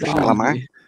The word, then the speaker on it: Chalamet: Timothy Chalamet. Chalamet. Oh my god. Fuck, you pronounce his name. I'm pretty sure the last Chalamet. time you said it right. It was Chalamet.